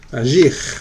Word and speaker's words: agir: Agir, muy bien. Choisir, très bien. Se pronuncia bien la R al final, ¿listo? Porque no es ER, sino IR. Ir, finir, agir, choisir.